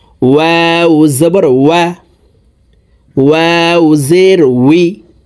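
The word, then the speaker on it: و: ফু ও জবর ওয়া দুই ঠোট গোল করে দুই ঠোটের মাঝে ফাঁকা রেখে ওয়াও হরফের উচ্চারণ হবে ওয়াও জবর ওয়া ওয়াও জের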